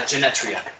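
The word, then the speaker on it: Genetria: t r i a I thought it was just Genta I mean it might be and the E might be mildly silent because English is stupid but yes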